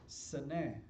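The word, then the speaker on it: סנה: Plus, um, bush in the book of Hebrews, I'm sorry, in the Hebrew language means you pronounce it seneh, Seneh, seneh, which sounds very close to Sinai.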